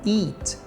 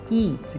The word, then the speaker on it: eat: com a pronúncia aí Apesar que é escrito com e a o som é de I Então você fala eat eat que é comer outra